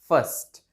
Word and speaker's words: fast: जैसे स्लो का ऑपोजिट होता है ना, फास्ट, ऐसा वाला फास्ट। लेकिन ये इसकी करेक्ट प्रोनाउंसिएशन नहीं है। इसकी जो करेक्ट प्रोनाउंसिएशन है वो है फर्स्ट, फर्स्ट, like that, not फास्ट, फर्स्ट, फर्स्ट, फर्स्ट, like that, ठीक है।